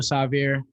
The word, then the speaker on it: Sahvir: want to say is still savior um you said it wrong my name is sorry